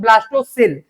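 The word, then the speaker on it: blastocoel: और बाकी जो खाली जगह बचा हुआ है इसको बोलते हैं ब्लास्टो सेल। इसको बोलते हैं ब्लास्टो सेल। सी ओ एल होता है वो वो साइलेंट रहता है उधर क्लियर इसको क्या बोलते हैं ब्लास्टोसिल और इतना ही तो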